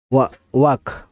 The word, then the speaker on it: walk: ওয়াক মানে হাঁটা, WALK, ওয়াক মানে হাঁটা।